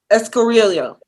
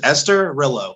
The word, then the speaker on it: Esturilho: it or say it escarillo that was worse uh the way i tell people to say is esther rello so esterilla gorilla yeah